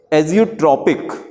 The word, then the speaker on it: azeotropic: लेकिन जब इसको मिला देते हैं तो एक वर्ड आपको रटना पड़ेगा, AZEOTROPIC, प्रोनाउंस करेंगे, एजियोट्रॉपिक।